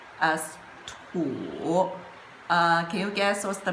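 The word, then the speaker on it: 土: now let's look at it, Li, this character is combined with this part, which pronounced as Tian, and this part, which pronounced as Tu.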